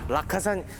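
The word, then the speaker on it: Rakkasan: 연대입니다 그 낙산 아 라카산 이게 방금 무슨 말씀이시라면 여기 부대 마크에 오면은 라카산이라고 거기 딱 써 있어요 아 낙하산이 아니라 낙하산이라고 써 있다고요 일본어 일본어 정에 낙산을 일본어 발음으로 해서 아 우리는 일본과 맞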